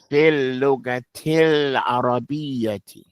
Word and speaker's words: في اللغة العربية: Go straight to that lamb. Put your tongue up in the roof of your mouth and pronounce it nice and clearly.